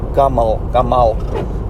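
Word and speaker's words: גימל: which is the letter Gimel. That can also be pronounced Gamal, which means camel.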